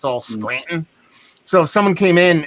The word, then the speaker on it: Scranton: If someone's from Scranton, they pronounce it Scranton. There's no T. It's all Scranton. So if someone came in and they said, "Oh, hi, I'm from Scranton," and be like, "No, you aren't, motherfucker.